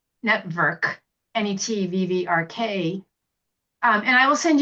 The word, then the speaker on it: NETVVRK: Network. Let me just show you Spell it for me.